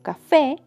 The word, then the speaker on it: café: con cito, cita, como café. La última sílaba fe es la que suena más fuerte, por eso es la sílaba tónica.